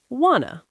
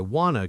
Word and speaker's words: want to: Now, another common one is want to becoming wanna. So, I want to go becomes I wanna go.